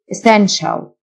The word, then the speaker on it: essential: ضروري necessary necessary essential TIA تنطق شه essential basic basic إضافي extra